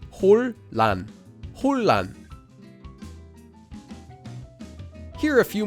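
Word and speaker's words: 혼란: The next syllable begins with a lil, so the nian at the bottom of 혼 changes into a lil, and we get 홀란, 홀란.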